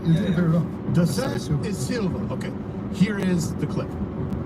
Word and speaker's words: Da Silva: How do I pronounce it? You did it very well. Da Silva.